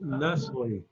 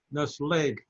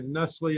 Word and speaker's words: Nestlé: We actually pronounce it Nestle. Nestle. If we were in Switzerland, where Nestle is headquartered, it would be Nestlé, because it's a French word. But in America, we say Nestle, and I think in